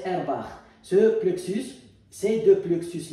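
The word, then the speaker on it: Auerbach: le plus derbare airbar elle se termine par un ch mais il est allemand c'est pour cela qu'on a qu'on va prononcer airbar ce plexus c'est de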